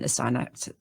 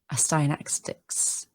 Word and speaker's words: Astyanax: of Andromache, Odysseus, and Astyanax. I can never say that name. Astyanax. Astyanax. Yeah, there we go. Astyanax. I add an extra syllable, which is not supposed to do that.